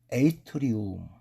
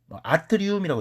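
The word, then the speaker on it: atrium: 우리가 심방을 에이트리움, 아트리움이라고 읽어도 돼요. 에이트리움.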